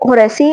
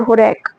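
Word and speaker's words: Horace: Roman poet था एक होरेक, तो होरेसी और होरेक दोनों प्रोनाउंसिएशन इसकी ठीक है रोमन की।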